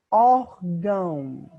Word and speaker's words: órgão: Órgão. Então, a sílaba tônica não é o gão, a sílaba tônica é o or.